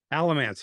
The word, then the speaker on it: Alamance: I'm wrong here Arch am I pronouncing this correctly Alamance Battlefield Alamance yep you got it elements okay now I